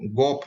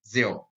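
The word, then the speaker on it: Geoff: बहुत सारे लोग जियोफ को गोफ भी पढ़ते हैं, जो कि गलत है। इसका सही उच्चारण जो होता है वो जियोफ।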